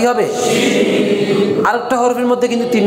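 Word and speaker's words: ش: তিন নক্তা দেওয়া হয় তাহলে নাম কি হবে শিন আরেকটা হরফের মধ্যে কিন্তু তিন নক্তা গেছে হরফটার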